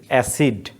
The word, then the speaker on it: অ্যাসিড: আমরা লিখি অ্যাসিড, আমরা লেখার সময়, আমরা উচ্চারণের সময় বলি অ্যাসিড। তো এখানে হর্ষচিহ্ন কেন বলছে,